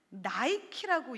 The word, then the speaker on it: Nike: 이 니케의 철자가 Nike, 영어로는 나이키라고 읽습니다.